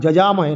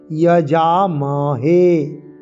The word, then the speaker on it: যজামহে: যজামহে কি আছে না, অন্তর্য আর পরে বর্গীয় জ, যজামহে নয়, যজামহে। হেতে আমরা দীর্ঘস্বরের টান দেবো এবং যাতে আমরা টান দেবো।